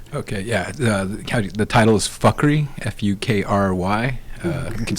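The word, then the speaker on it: Fukry: The title is Fuckery, F-U-K-R-Y. You can say Fukri or Fakrai, so, any which way, but Fuckery is usually the way to say it, but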